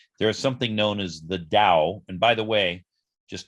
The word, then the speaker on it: Dao: something known as the dao and by the way just to be clear i'm saying it with a d sound because that's the proper pronunciation but it's usually transliterated